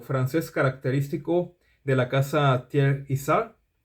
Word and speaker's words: Thiers-Issard: la casa tierre yzar Esta es la pronunciación un poco que más se acerca a la pronunciación natural en francés Es algo así como tierra Isa pero pues es un poquito difícil de pronunciar si uno está pensando con el switch de la cabeza en español pero bien Este voy